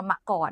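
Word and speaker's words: มกร: มังกร กรม มะกร นะ จริง ๆ แล้ว มัน ออก เสียง ว่า มะกร นะ คะ อ่ะ เอา เป็น ว่า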